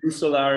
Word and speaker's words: Rousseaux: so sorry, is it Rousseaux? Is that the correct? Rousseaux, you can pronounce it with your R.